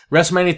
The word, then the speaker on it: WrestleMania: mania 34 and yes I must pronounce the T because it's just so much fun WrestleMania 34 man the show